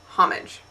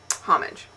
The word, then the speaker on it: homage: smart and educated but it turns out that it's not a French word it is an English word and it's pronounced homage so there you have it homage and that reminds me